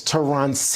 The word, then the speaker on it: Terance: Uh she's also here in our Palm Beach studio and Terrence who is in our Denver newsroom. Actually, it's Terance. Please pronounce my first name correctly.